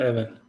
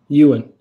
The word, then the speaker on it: Ewan: It's not Evan. What is it? Ewan.